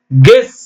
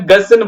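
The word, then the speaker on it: guess: பாருங்க இப்ப படிச்சு பாருங்க கெஸ் வருதுங்களா கெஸ்ஸ்தான் சில பேரு யூ ஆ சத்தம் போட்டு கெஸ்ன்னு படிக்கிறாங்க அது தப்புங்க கெஸ் ஜி இ எஸ்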